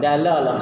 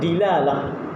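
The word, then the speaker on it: دلالة: Dia bacanya bi fathil dal, dalalah. Sebagian orang dia baca dilalah. Tapi yang afsahnya, yang fasihnya dalalah.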